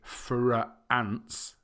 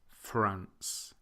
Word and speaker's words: France: Greece Lao and Spain so we don't say for ants it's just one sound France Greece Lao and Spain